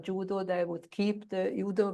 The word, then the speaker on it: judo: which you cannot correct even if you tell the judo 2,000 times it is not yudo but judo they would keep the udo version.